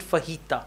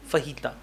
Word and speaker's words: fajita: it's Spanish word so in English also we pronounce it fajita okay Jay is like her fajita all right let's go on do you think